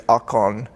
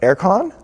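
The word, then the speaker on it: អរគុណ: I tried to say thank you, and it's akon, and they're like, aircon? Like, akon. Like, you want the air conditioning? Like, akon.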